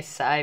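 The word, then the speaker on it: psi: हम water potential को present करते हैं इस सिंबल से, जिसको मैं साय भी कहता हूँ, साय। अब जो है वो पी साइलेंट है, साय।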